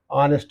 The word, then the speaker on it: honest: there is an adjective, honest is there. But honest is a silent H word, it is beginning with a vowel sound.